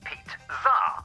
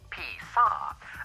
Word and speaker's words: pizza: For example, pizza is pronounced pizza rather than pizza.